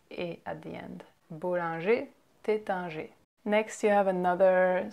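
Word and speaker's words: Taittinger: theta a theta a theta G so you see how we don't pronounce the ER at the end of those two names it's just a at the end boundary theta G next you have another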